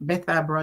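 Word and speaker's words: Bethabara: But based on what I've heard about Jayden being the number one PEP student from Beth Arbor, that's how you pronounce it, primary school.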